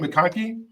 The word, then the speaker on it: McConkie: uh how do you say your last name makoni makoni yeah all right so makoni uh